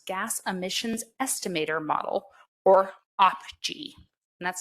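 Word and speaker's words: OPGEE: Oil Production Greenhouse Gas Emissions Estimator Model, or OPGE, and that's spelled O-P-G-E-E.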